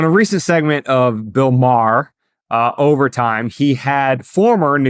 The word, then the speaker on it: Maher: How do you pronounce Maher. it? I always screw it up. Just Maher. Okay, Maher. Bill Maher. You're doing too much. Do less.